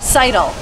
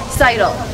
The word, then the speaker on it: Seidel: Seidel. Seidel. Seidel.